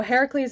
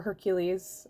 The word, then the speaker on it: Heracles: So Heracles in this deck, or Hercules is a different pronunciation that you might be more familiar with.